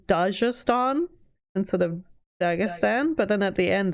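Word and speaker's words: Dagestan: He says Dajastan instead of Dagistan, but then at the end the lady says Dagistan. No, she said yeah Dag Dagan or something and then the guy was like Destan or something. Yeah, Dagistan.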